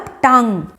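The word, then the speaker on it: tongue: जीभ का मतलब टंग, जिसमें GUE साइलेंट है।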